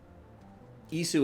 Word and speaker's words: Isu: humanity were slaves um ISU is the correct pronunciation I'm not making that one up uh the humanity